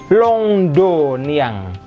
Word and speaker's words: Londonien: Ininya Londonnya ada tuh, dibacanya Londoniang. Hati-hati, on yang pertama berbunyi ong ke atas, ong. Yang kedua tidak berbunyi ong, kepisah.